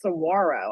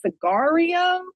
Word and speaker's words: saguaro: I didn't even know how to pronounce saguaro. I was like, Cigario?